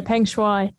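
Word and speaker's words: Peng Shuai: is it's shawaii why isn't it right yeah pengshui um so she uh at the start of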